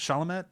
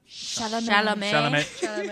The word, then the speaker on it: Chalamet: How do you pronounce it? Chalamet? Chalamet.